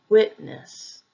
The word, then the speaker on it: witness: second syllable respect respect witness can also be used as a noun or a verb but the emphasis will usually be on the first syllable witness witness the last pattern